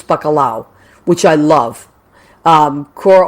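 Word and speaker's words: bacalao: puerto rican and uh puerto ricans also call it they you call it bakalao we call it pakala so you're right in spanish it's bakalao which i love um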